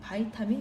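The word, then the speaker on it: vitamin: 우리 보통 바이타민이라고 사실 잘 발음 안 하고 비타민이라고 표현하죠, 그렇죠? 원래 바이타민이 더 정확한 발음이겠죠? 외국에 나와서 비타민 이러면 못 알아듣는 걸로 알고 있는데 바이타민이 맞는 표현이고요. 그래서 이제 옛날 교과서와 좀 다르게 표현이 바뀌었습니다.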